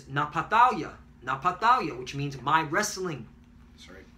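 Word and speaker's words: נַפְתָּלִי: Naphtali is Napatalia, which means my wrestling.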